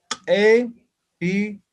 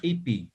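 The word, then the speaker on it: q'ipi: Por tanto, epiri. Epiri. O bulto, ¿no? Epi. No decimos ipi. ¿No? Epi.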